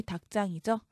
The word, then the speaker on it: 닭장: 일단 닭장만 보면 대표음 기역이죠. 그 뒤에 지읒은 된소리로 발음해야 합니다. 그래서 닭장 이렇게 말하고요.